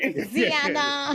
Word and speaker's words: Diana: Diana.